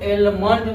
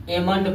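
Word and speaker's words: almond: इसको क्या पढ़ेंगे, इसको एलमंड नहीं पढ़ा जाता है, इसको एमंड पढ़ा जाता है, एमंड पढ़ा जाता है।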